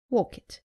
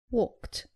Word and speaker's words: walked: Saying walk it. It is walked.